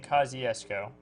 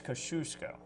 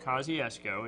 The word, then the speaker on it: Kosciuszko: Scott, one of our loyal viewers, we've been saying Kosciuszko. It's Kosciuszko. Okay. I mentioned that in Mississippi we call it Kosciuszko. It's a little different, but here it's pronounced Kosciuszko.